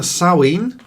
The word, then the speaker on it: Samhain: and me but it's also a saueen so samhain is how it's written s-a-m-h-a-i-n uh it's pronounced sowing